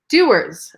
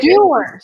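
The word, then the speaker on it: Dewar's: And by the way, it's pronounced Dewars. Okay. Dewars.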